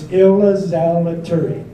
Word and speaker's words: Ilzaliturri: All right, it's Ilzaliturri. Who can pronounce it besides myself?